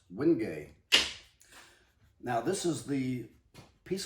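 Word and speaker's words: wenge: I would have pronounced it Winge if I hadn't learned from somebody else that it's pronounced Wingay.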